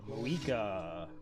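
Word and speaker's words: Mavuika: Moika. Go Moika. Forget that I have to. Just the V is silent.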